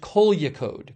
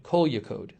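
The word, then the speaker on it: Kozhikode: Mo Praz says it's pronounced Kolyakode. Kolyakode.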